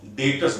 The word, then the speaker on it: debtors: लिखा डाटा याद रखना जो बी है ना ये बी साइलेंट होता है इसलिए हम इसको डॉटर्स बोलते हैं नॉट डेप्थ तक ठीक है अब